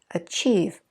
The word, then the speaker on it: achieve: So we just kept our stress on that second syllable, achieve, achievement, achievable, achiever.